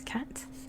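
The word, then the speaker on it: kat: much more sense anyway four is cat cat french cat in french oh it's so good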